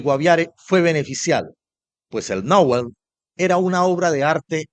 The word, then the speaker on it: Nowen: Pero la verdad guardada en la memoria de los pueblos originarios es que se puede escribir Nowen, pero se pronuncia nowel uniendo la a y la o. Nowell, un sonido que resuena